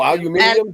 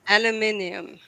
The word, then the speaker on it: aluminium: or worse or sure the British say aluminum they say what they say aluminum oh aluminium yeah I've heard that aluminium aluminium I always thought